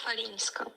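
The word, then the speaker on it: Chwalińska: It's almost an F. It's an F. Maya Falinska. So like Swiatek is Yeah. the SW is a V Yeah. pronunciation. So CH is an F. CHW is an F. Probably an F.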